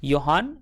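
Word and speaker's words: Johann: तो उनका ऐसा मानना है, किसका मानना है ऐसा, योहान वेयर का, जहाँ पर जे साइलेंट है।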